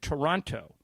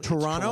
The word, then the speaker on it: Toronto: And almost everybody said Toronto. But Emily and Brian said it correctly. Toronto. Toronto. Toronto. So you just sort of blend the T.